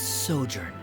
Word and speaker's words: sojourn: story together well is everything clear uh Simo pronounce this word let me see Ah that's sojourn it means to stay for a while this